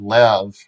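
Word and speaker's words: לב: But one thing that's kind of cool is like here's the word lev or lave, depending how you want to pronounce it, biblical or modern.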